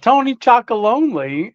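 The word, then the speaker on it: Tony's Chocolonely: Oh, Tony Chocolonely.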